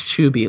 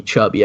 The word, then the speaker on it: Chuby: No, it's Chuby. Like, I used to do that as a joke on, like, PlayStation. Back when people in the lobby would call me Chubby, and I'd be like, you said it wrong.